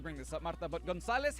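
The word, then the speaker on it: González: this up Martha but Gonzalez has an accent on it if the emphatic syllable is the penultimate one in the word or name and the word doesn't end in N or a vowel the prosodic vowel I'm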